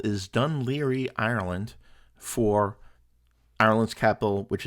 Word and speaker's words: Dun Laoghaire: Today's port of call is Dun Laoghaire, which written in Gaelic is spelled nothing like it sounds.